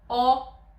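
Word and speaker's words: ㅓ: Practically, these two letters, are pronounced with the mouth more open than the sound "o". It's a sound between "a" and "o".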